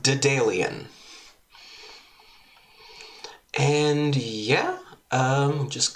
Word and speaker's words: Daedalian Opus: Um game we're playing today is called Dalian Opus. I think that's how you pronounce that. It's a Dalian. Dalian. I'm I'm going with Dalian.